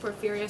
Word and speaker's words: Porphyria: Like poor, like you have no money. Fear, like and like again. And, so yeah, it's good phonetically.